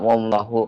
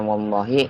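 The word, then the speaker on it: والله: Kenapa nggak wallahu kan? Kenapa nggak wallaha? Tapi dibacanya wallahi karena dia di awali atau di depannya terdapat harf jar.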